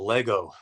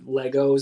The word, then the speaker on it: Lego: Is the plural Lego? Am I saying it wrong? Am I saying Legos? Adding like the S, pennies? right? Adding the S is incorrect, but everyone does it.